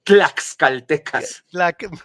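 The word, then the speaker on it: tlaxcaltecas: Con t claxcaltecas.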